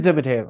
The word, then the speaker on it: DeMatteis: Last time we had him on, I believe it was DeMatteis. It is DeMatteis.